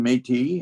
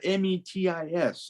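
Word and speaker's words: Métis: preferred because it's spelled m-e-t-i-s and as people began to read French more and more they said metis okay but that was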